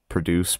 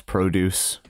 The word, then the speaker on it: produce: noun and a verb, the noun tends to have the emphasis go on the first syllable, whereas if it's a verb, it goes on the last syllable. So like record, record, produce, produce.